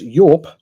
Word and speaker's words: Yope: An editor gets points for pronouncing it right and not saying dupe, but yes, Yope is my opinion on how 1993 was.